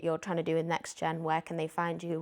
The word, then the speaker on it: NexGen: No, it's NextGen, not Next, cuz everyone always puts a T and there's no T.